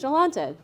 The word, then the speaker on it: Jolanta: have a hard name jalante is a hard name to pronounce I totally get it so I have to come up with my name is jalante from Atlanta or something like that